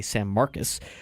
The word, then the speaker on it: San Marcos: to a tournament in San Marcus Texas spelled like San Marcos but they say San Marcus uh lost to Texas